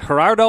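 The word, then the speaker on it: Gerardo: Argentinian national team manager is it herard Martino is that how you say it yes um and also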